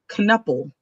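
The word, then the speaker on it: Knueppel: Con Knuppel. yeah, Knuppel. that's right.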